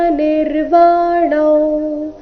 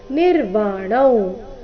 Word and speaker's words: ನಿರ್ವಾಣಂ: ಯತ ಚೇತಸಾ ಅಭಿತೋ ಬ್ರಹ್ಮ ನಿರ್ವಾಣ ಅಭಿತೋ ಬ್ರಹ್ಮ ಅಭಿತೋ ಬ್ರಹ್ಮ ನಿರ್ವಾಣ ಇಲ್ಲಿ ನಿರ್ವಾಣಂ ಅಂತ ಇಲ್ಲ ನಿರ್ವಾಣವ್ ಅನುಸ್ವಾರದ ಉಚ್ಚಾರಣೆ ನಾಸಿಕ ತಾವ ರೀತಿ ನಿರ್ವಾಣ ವರ್ತತೆ ವಿಧಿತಾತ್ಮನ ನೋಡೋಣ